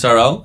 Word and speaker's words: Tyrrell: Welcome, Tyrrell. Yep. Am I pronouncing it correctly? Tyrrell, but it doesn't. Tyrrell?